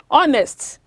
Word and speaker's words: honest: For such words that begins with the mute H, as in the silent H sound, which is silent or not pronounced, words such as honor, honest, hour, take the article an.